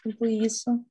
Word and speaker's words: employees: Employees, last syllable stressed employees.